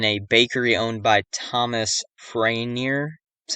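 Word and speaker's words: Farriner: The fire started in a bakery owned by Thomas Franier. That's how you pronounce it.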